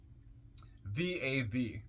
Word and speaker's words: Vav: goal comment on v v a v pronounced VAV transcribed as V or